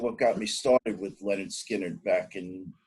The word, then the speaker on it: Lynyrd Skynyrd: was actually recorded prior to their first album pronounced leonard skinner a song called uh down south duken yeah